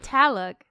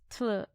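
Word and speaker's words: Tlaloc: Because it's not Taluk. It's Tlaluk. Dalek.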